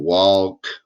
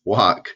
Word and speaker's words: walk: it so weird well we just learned a l makes the all sound this is not walk right it's walk so it's kind of